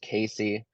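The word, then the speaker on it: CACI: is called the jury instruction so it's actually pronounced Casey uh c-a-c-i and it's during instruction 25 21A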